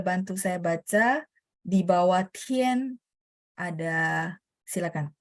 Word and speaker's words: 天: Tian pakai th. 所以同学们很抱歉, sorry banget ya. Kadang-kadang saya agak ketat pronunciation kurang h, saya minta ulang supaya teman-teman benar-benar pronunciation-nya pas dan benar. Karena kalau beda pronunciation, beda arti.